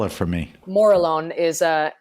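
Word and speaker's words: Morillon: for chardonay so I've say that again and spell it for me Mor alone is a m o r i l l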